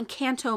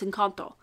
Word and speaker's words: Encanto: to pronounce it properly it's not encanto mom it's in kanto so she corrects me